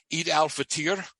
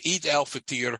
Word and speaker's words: Eid al-Fitr: At the last day of Ramadan, and it's spelled EID dash AL dash FITR. Eid al-Fitr, I think is the way it's pronounced.